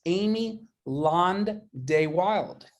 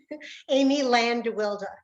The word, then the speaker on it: Amy Land-de Wilde: with a member in the caribbean and it's amy land day wild is that how i pronounce it amy can i correct that no that's yes please amy land wilder oh amy land wilder amy how's that i